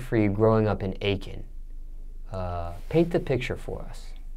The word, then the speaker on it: Aiken: Now, how do you pronounce the South Carolina city? Aiken County. Aiken.